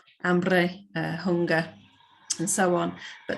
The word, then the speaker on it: hambre: Spanish just has one silent letter, which is the H in front of a word like hambre, hunger, and so on.